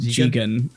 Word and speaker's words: Jigen: calls Goemon Goemon, and he calls Jigen Gigan. But then like halfway through Goemon says you're pronouncing your names wrong. I'm Goemon. And Yeah, he's Jigen, that's and you're Lupin.